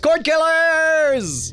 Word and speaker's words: Cordkillers: I believe it's pronounced beard oh hi it's pronounced chord killers welcome to court killers for sure about